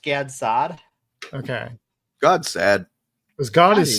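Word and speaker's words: Gad Saad: figure out how to I've heard his name pronounced God sad, which is a really funny phrase. And also Gad Sad. I've always heard it pronounced Gads Sad.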